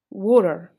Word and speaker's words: water: talking fast, then you should modify it with R. For example, here, T is between two vowels, A and E. So it's going to be R. Water.